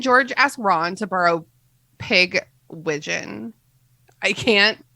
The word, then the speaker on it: Pigwidgeon: yeah i always say pidge widgeon pagevision okay that's a better pronunciation what how do you pronounce it matt it's pigwidgeon nickname is pig yeah